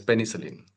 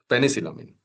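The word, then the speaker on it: penicillamine: Proanomide as well as penicelline penicylamine not penicellin penicylamine that is depenicylamine.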